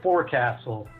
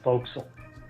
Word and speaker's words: forecastle: I texted you, but a forecastle is actually called a forecastle.